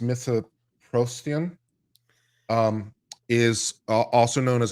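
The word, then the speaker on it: mifepristone: talking about this drug which I think is pronounced mythoprostian um is also known as ru-486 was initially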